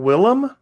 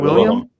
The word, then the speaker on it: Willem: hold on am i chris is his name willem not william well willem oh my gosh i thought it